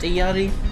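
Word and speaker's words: Illari: support hero iyari functions I think it's pronounced the yeti I checked out some Spanish people um and I just checked on what peruvians say they reckon it's pronounced iyari because that's how like the inspiration is so I'm gonna pronounce it Yeti because it works with the language I can speak uh most English-speaking plebs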